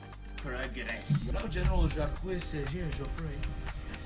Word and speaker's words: Joffre: Now General Jacques César Joffre, that's how you say it, has been replaced by Philippe.